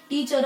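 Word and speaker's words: teacher: यानी जो आर होता है वो बिल्कुल वो अंदर ही रख लेते हैं, क्योंकि उसका साउंड हमें प्रोनाउंस करना नहीं। क्योंकि जो नेटिव स्पीकर्स होते हैं वो कभी भी लास्ट में र का साउंड बोलते नहीं, क्योंकि उनकी जो इंग्लिश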